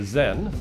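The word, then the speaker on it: Xen: single wildly successful product the Zen spelled with an X neuro calibrator planet Earth's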